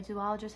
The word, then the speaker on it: zoologist: I've heard from a zoologist that you don't say zoologist, it's zoologist, so I'm going to say it right.